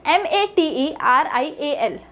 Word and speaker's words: material: Now the next example we are going to study is MATERIAL. So here T and E are the primary syllables and the both A's in the spelling are the reduced syllables, and material.